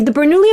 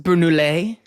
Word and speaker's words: Bernoulli: They're like, it's pronounced Bernoulli. It's like a French dish. It's Italian, right? So it's like Bernoulli. Bernoulli. Now there's Italians listening to this who are upset.